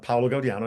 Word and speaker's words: Paolo Gaudiano: I'm so I'm Paulo Gaudian as you said excellent pronunciation.